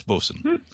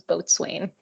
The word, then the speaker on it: bosun: that's the boson whistle there are other nautical terms that do the weird pronunciation too like for castle being pronounced foxel but bosun's the one that always catches my eye and my inner ear i thought that was both swain that's how i always say it in my head i know me too